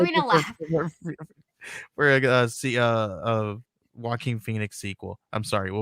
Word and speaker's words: Joaquin: And she's like, oh, is that how you pronounce that? I was like, yes, not Joaquin. So whenever I see his name, I have to it's Joaquin, not Joaquin. It's Joaquin Phoenix.